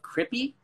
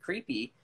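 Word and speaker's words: Cripi: seeds of Crippy, and it was spelled C-R-I-P-I, and I always pronounced it creepy because Crippy wasn't a word at the time that people were using in California. So I thought it meant creepy, and I thought he was misspelling.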